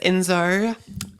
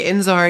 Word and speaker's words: Enzo: um my name is enar I'm 17 it's inzar that's it's actually inzar yeah everyone's been mispronouncing it this entire time is that like a